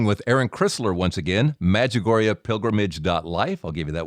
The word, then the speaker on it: Medjugorje: it sounds very good Med like medical j-u-g like jug and then o-r-j-e magagoria pilgrimage dot life the